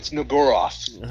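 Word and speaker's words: Shub-Niggurath: Yeah, no, it's Niguroth is how you're actually supposed to pronounce it.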